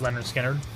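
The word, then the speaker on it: Lynyrd Skynyrd: It's on the first Skynyrd album, the one called Pronounced Leonard Skynyrd.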